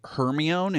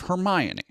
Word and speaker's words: Hermione: This is why many so many kids grew up saying Hermione instead of Hermione because it was a name in a book and if you sound it out phonetically a lot of kids